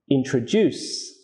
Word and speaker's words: introduce: Some three-syllable verbs have stress on the third syllable. For example, understand, introduce, overcome.